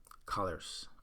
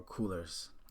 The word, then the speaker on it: Coolors: website of the day is colors or coolers um however you want to pronounce it but it's colors with